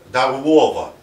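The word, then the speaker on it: Darłowo: Дарлова, произносят поляки.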